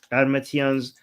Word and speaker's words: Qarmatians: Once inside the city walls, the Qarmatians, is that how you say it again? Yes. Qarmatians The Garmatian's army set about